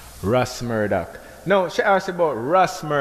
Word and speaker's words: Myrhdak: So I say Ras Myrhdak, but I spell Myrhdak different. I don't spell it like murder. I spell it like frankincense myrrh. Myrhdak.